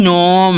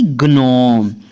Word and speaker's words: gnome: तो GNOME नोम, ना कि ग्नोम। और बहुत से लोग इसको ग्नोम भी पढ़ते हैं क्योंकि वो जी के प्रोनाउंसिएशन निकालते हैं, लेकिन एन के पहले आया जी हमेशा क्या होता है साइलेंट।